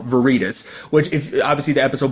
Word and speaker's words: Veritas: thing as a title Veritas or varitas if you depending on how you want to pronounce it I've always said